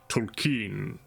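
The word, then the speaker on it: Tolkien: like the Lord of the Rings by JRR Tolen um and I remember seeing you an interview talking about that being like you know having actually met the man his name is pronounced Tolen and I'm very deliberate on this and you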